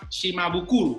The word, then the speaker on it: Shimabukuro: Así es que les damos la más cordial bienvenida a Shimabukuro. Muy bien, ahí está. Si lo pronuncié bien, tengo premio. Sí, sí, sí, muy bien.